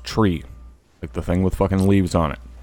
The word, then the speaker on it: tree: three five and nine three pronounce phonetically Krauts tree if the thing with